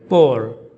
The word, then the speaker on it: poor: Three different words, different meanings, but same pronunciation.